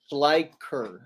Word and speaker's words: Schleicher: here um man wait how do you say your last name look like say it again sler sler okay sler because I got a